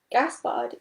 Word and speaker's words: Gaspard: by a real fox gaspard is a french name and rhymes with renard the french word for fox here are some other